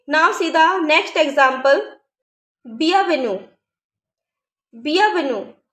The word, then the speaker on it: bienvenue: Bienvenue. Bienvenue. Here E find after the letter U. So we are pronouncing only the letter U. We are not pronouncing the letter E.